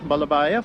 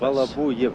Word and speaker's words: Balabuyev: If I may, I would like to introduce this gentleman here, Pyotr Vasilyevich Balabayev, who is the chief engineer of the Antonov design office. Balabuyev. Balabuyev is the exact. Balabuyev is the pronunciation.